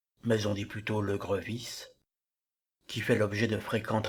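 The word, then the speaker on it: Grevisse: parfois quelque peu polémique attention prononcz bien grevis ce monsieur a dû passer sa vie à expliquer qu'il n'y a pas d'accent aigu sur le premier e de son nom Maurice grevis qui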